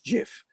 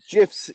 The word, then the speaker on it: GIF: me up because he says that it's GIF I say GIF and then Andrew came out the other day and showed me an article of the creator of gifs who said it should be pronounced gif um and I'm I'm on Dave's side because GIF would start with a j and GIF starts with a g not I just think